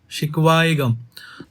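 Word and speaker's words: शिकवा-ए-ग़म: बट जब ये ए के साथ जुड़ेगा तो अब देखो उच्चारण में क्या फर्क पड़ रहा है, नियम याद नहीं रखना, सिर्फ उच्चारण, शिकवा, शिकवाएगम।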